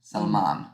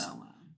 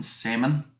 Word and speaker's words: Salman: Sorry, I said that too much like the fish rather than his name. Salman, I think it is. Salman. Rather than salmon.